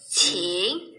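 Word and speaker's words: qǐng: Qing. Ini Q nggak dibaca king ya. Q dibacanya kayak CH. Qing yuan liang wo de cuo wu.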